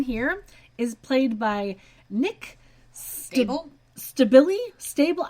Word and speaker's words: Stabile: So, Owen here is played by Nick Stable? Stabile? Stable? I honestly don't know how to say his last name. It's Stabile.